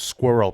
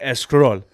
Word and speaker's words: squirrel: my immigrant Persians, like they can't pronounce S, like any word that starts with an S that has a consonant after it without adding an E at the beginning. So let's say, for instance, squirrel is a prime example. No Persian fob can ever pronounce squirrel properly. They say escroll or escurol.